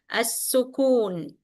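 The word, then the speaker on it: السكون: Then when you pronounce the in, you must take back your lips. It should be in the normal position.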